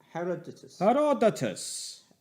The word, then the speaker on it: Herodotus: Herodotus. Herodotus. Well, it's Herod Otus.